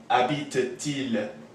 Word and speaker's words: habite-t-il: This T of the ent makes a liaison with this il. So whereas we would say, ils habitent à Montréal, they live in Montreal, do they live in Montreal becomes habite-t-il à Montréal, and the T is pronounced.